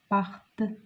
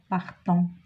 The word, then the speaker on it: partent: Nous partons, ONS, vous partez, EZ, et il avec S, elle avec S, partent, ENT. On ne prononce pas ENT, on ne dit pas partant.